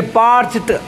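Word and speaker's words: parched: टी, तो क्या पढ़ेंगे, पार्च्ड। ड नहीं होता है, पार्च्ड ट का उच्चारण होता है पार्च्ड।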